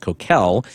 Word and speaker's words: Coquille: In particular, it was a casino that had been requested by the Coquille, which I found out is actually pronounced Coquille, Indian tribe.